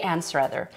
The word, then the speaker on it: Anstruther: Duckface playing Lady Anstruther.